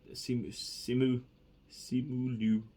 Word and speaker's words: Simu Liu: And these were like, and Simu Liu, I think that's how you pronounce it. Simu Liu, who plays Shang Chi, he nailed it, man.